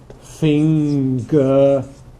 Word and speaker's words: finger: But finger doesn't drop the g. Why? Because it doesn't occur at the end of a morpheme or a word here. This is one morpheme, isn't it? This is not an ending. It's part of the word.